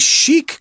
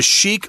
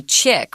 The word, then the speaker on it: chic: it's pronounced so crazy it looks like you need to say chick right yeah but it's a French word which just means fashionable